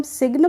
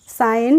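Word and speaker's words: sign: जी साइलेंट हो गया ऐसे ही एस आईजी एन होता है तो इसको हम सिगन पढ़ते हैं नहीं पढ़ते हैं क्या पढ़ते हैं साइन पढ़ते हैं तो यहां पर भी हम जी का प्रोनाउंस एशन नहीं करते हैं अब है फ्रेंड्स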